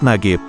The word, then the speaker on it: Najib: sebenarnya namanya adalah Najib karena pengucapan huruf Jim di Mesir ialah seperti G sehingga Najib dibacanya nagib berarti kalau gitu jembatan